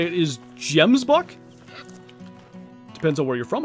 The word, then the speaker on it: gemsbok: The proper way to say it is gemsbok.